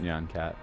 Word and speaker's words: Nyan Cat: I'm glad you brought up Nyan Cat. Because. Oh, is it one? Are you spoiling? Cat Former 3D. Ah! That's awesome. Oh my gosh! Yeah, when I was right when Nyancat came out, I made a UDK prototype that